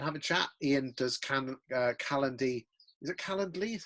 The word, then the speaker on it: Calendly: Ian does Calendly. Is it Calendly? How do you say that, mate? Calendly and Zoom integrations, Chris.